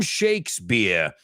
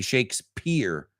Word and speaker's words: Shakespeare: William Shakespeare. And remember what I told you guys, Americans, we pronounce it like it's a B, not a P. So we don't say Shakespeare.